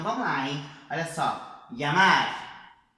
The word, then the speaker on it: llamar: Llamar, llamar, calle, calle, ella. Tá vendo que é um LH meio que pela metade, né?